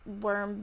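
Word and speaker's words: Wyrm: a worm based card it's spelled w-y-r-m i think that's worm based and its effect is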